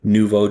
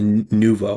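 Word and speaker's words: nouveau: The Nuvo or Nueva, however you say it. Pretty sure it's pronounced Nuvo, but that's the driver.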